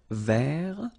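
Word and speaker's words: vert: rou remember rou so masculine form don't pronounce the final T ver feminine form ver so listen carefully I don't say t but it's ver ver Okay so as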